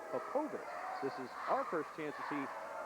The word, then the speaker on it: Popovic: a lot of players a lot of media members have mispronounced Aaron's name over the years as Popovich but it is really APOBEC this is our first